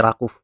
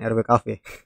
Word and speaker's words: RWKV: Jadi ini sebenarnya nama saya baru tahu kalau pengucapannya ini Rakuf bukan RWKV.